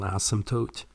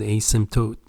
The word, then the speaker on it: asymptote: The floor technically is called a horizontal asymptote. The P, by the way, here is silent. That means you don't pronounce it when you say this. Some call it asymptote, but usually people call them asymptote.